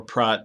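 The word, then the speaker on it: Praat: I'm gonna teach you Pratt and or prot actually sorry it's Dutch it's perhaps prot and wave surfer which is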